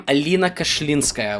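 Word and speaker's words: Alina Kashlinskaya: essentially what this is now that I pronounce her name Alena cash olinska which is the right way to pronounce that I believe but maybe um Nosa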